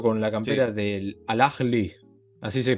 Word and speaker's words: Al-Ahly: Nahuel, dije que eras de Boca, te veo con la Sí, campera del Al-Ahly, ¿así se pronuncia?